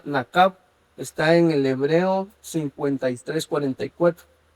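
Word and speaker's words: נָקַב: cuando se profiere una maldición, o la palabra maldíganla, en el hebreo se pronuncia nakab, está en el hebreo 53:44.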